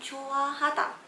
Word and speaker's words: 좋아하다: So jwahada ni kalau awak tengok ejaan dia J-U. Kadang-kadang awak akan dengar bunyi dia macam J-U. So awak mungkin akan buat kesilapan eja J-U. Tapi take note, dia sebenarnya J-O. Jwahada.